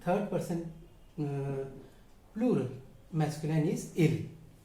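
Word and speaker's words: ils: Third person plural masculine इज इल. मैं एस को अभी प्रोनाउंस नहीं कर रहा हूँ, लेकिन अभी थोड़ी देर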